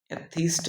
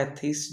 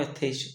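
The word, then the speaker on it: atheist: एथीस्ट बाय एथीस्ट, जो मैं फिलहाल कभी कभी बोल देता हूँ एथेइस्ट, but that is wrong, क्योंकि आपका एथिस्ट आपका सही प्रोनाउंसिएशन होता है, एथिस्ट।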